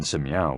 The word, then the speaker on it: si: associated with the heart SI pronounced like Sir with a slow exhale which is associated with